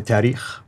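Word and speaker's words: تاريخ: Tariq, I think you meant. You mean the Tariq, the history? The last Tahriq, one. Yeah. What did I say? Tariq, yeah. Excuse my pronunciation. No problem. I just want to make sure. I should let you actually do these since you know. When you said tahriq, it meant grammar.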